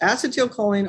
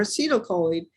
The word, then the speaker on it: acetylcholine: It's pronounced acetylcholine or acetylcholine, and it is a really important neurochemical.